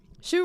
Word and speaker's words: Shoe: Shoe rhymes with Lou, just saying.